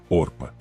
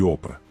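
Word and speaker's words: Orpah: Sim, Orpa, nome retirado diretamente da Bíblia, mas ninguém conseguia pronunciá-lo direito. Por erro ou descaso, todos a chamavam de opera.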